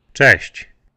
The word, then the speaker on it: Cześć: The good news for you now is the CZ in the beginning sounds pretty much like the CH sound.